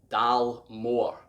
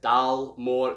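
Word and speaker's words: Dalmore: stag on it and you'd expect the first three letters to say dal dal more however in gaelic the dal sounds a little different it sounds almost like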